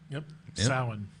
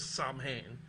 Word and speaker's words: Samhain: pagan tradition certainly it comes from the Celts Shaolin yes someone off occasionally incorrectly pronounced as Samhain but it no Beth and Brian are correct